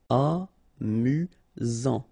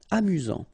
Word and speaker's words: amusant: Amusant. Final T not pronounced. You've got only one S here between the vowels, so it's really this Z sound. Amusant. Amusant.